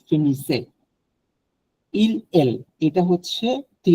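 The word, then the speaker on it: finissent: এটা হচ্ছে আপনার ভু এর জন্য আসবে, ভু ফিনিসে।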